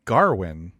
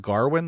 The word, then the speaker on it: Gawain: is the gawain but they say garwin did you did you ever read the poem or i didn't no okay it blew my mind and i've seen people on twitter like wait it's been pronounced garwin this whole time anyway um this is